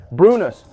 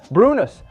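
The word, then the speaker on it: brunost: Brunus. Brunus.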